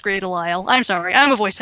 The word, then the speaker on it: Grey DeLisle: Yeah, it really is pronounced Grey Delisle.